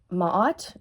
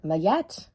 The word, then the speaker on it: Maat: When I was sitting down this morning, drinking a cup of coffee, I had Maat or Mayet, I guess it depends how you pronounce it, but Maat came through to me.